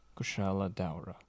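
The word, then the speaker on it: Kushala Daora: jungle region that fought back against the Elder Dragon, Kushala Daura. The civilization That's how you pronounce in it?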